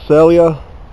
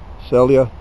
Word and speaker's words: Celje: here at this town the town is called celia which is pronounced like uh i'm going to sell you a bridge celia and it's spelled c